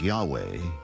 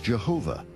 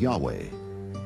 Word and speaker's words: Yahweh: referred to God as Yahweh was named Jay because early European translators were ignorant of the correct pronunciation of Hebrew names many inadvertently referred to the name of God as Jehovah instead of Yahweh and ironically the name